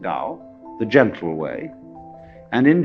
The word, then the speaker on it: Dao: Do is the Japanese way of pronouncing Dao, the gentle way.